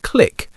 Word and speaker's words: clique: But in North America, it's often pronounced as a homophone of click, with the short I sound.